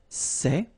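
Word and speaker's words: ces: the plural form so masculine plural it would be say okay and then feminine plural good news it's the same so we've got one form here sir and the option set when you've got a noun starting with a vowel after and then set feminine form and for the plural you've got only one form okay and it's say okay remember open Say Say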